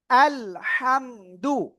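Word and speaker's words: الحمد: হাম এই হামটা আমরা সিম্পল বাংলায় এরকম উচ্চারণ করি 95% বা 99% হাম এটা উচ্চারণ টোটালি রং টোটালি ভুল হাম গলাটা চেপে মুখ দিয়ে হালকা বাতাস বের করে উচ্চারণ করতে হবে হাম আমরা অনেক সময় চিকন ভাবে এরকম ডাকে না এরকম শব্দ করে ডাকি না তো এইরকম একটা আওয়াজ করে আপনার এটা উচ্চারণ করতে হাম আলহাম ঠিক আছে দাল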